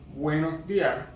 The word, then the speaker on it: buenos días: And this graph symbol is an accent, and in Spanish it's quite used when we want to emphasize the, how can I say, the stress on the vowel.